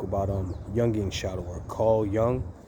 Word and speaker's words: Jung: Carl Jung, it's like a Jungian school of thought, spelled Junj. Pronounced Jung, but I came across